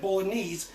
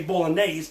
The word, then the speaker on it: bolognese: The northern version of bolognese, and I just want to say bolognese in Italian is actually said bolognese. We Americans say bolognese, but in Italy it's called bolognese.